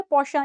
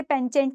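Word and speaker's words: penchant: हम क्या कहते हैं, पौशा, इसकी प्रोनाउंसिएशन क्या होती है, पौशा, इसे पेंचेंट नहीं कहना, ठीक है।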